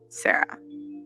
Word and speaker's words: Sa Ra: Today, I'm gonna be telling you the truth about Sarah. So she calling him Sarah. First off, what's up? His name is Sa Ra. His name is not Sarah.